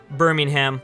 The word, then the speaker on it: Birmingham: Birmingham. That's how you say it in America.